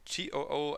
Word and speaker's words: TOO: TOO, I believe, is the right pronunciation. At least that's what the MC, Jung Sung Kyu, on Road to Kingdom pronounces them like. So I will just use that one, I guess. Although it looks like the English word two, you know.